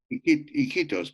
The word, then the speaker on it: Iquitos: Iquitos. Am I saying it right? Iquitos, but we go a couple of 100 kilometers